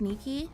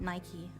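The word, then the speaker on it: Nikke: It's pronounced Nikki. Oh, yeah. Yeah. Yeah. I know. You know how I know? Cuz it's a Greek word. It's mine. It's my word. Yeah. So, I should know it's pronounced Niki, but I don't know why I pronounce it Nike. Like the shoe, I guess that that's why.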